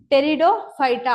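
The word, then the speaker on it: Pteridophyta: ஸோ be silent, இதை நம்ம எப்படி ப்ரொனவுன்ஸ் பண்ணுவோம்? டெரிடோஃபைட்டா அப்படின்னு ப்ரெசென்ட் பண்ணுவோம்.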